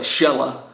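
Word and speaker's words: Xela: you say it then the locals here call it shella with an x so i i don't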